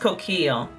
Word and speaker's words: Coquille: Originally my handle was Coquille. It's pronounced Coquille. But that's really hard to pronounce and it's not spelled that way. So I shortcut it to Coqui because you can actually see that it's a hard K sound.